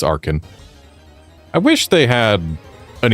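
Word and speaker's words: Archen: like it should be Archin. But no, it's Arkin.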